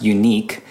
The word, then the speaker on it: UniK: nourish tool out there called it's called it's pronounced unique it spelled out I said I've totally just